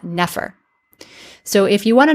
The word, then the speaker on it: nefer: other ones we've seen this represents n F R and in modern times we pronounce that Nefer so if you want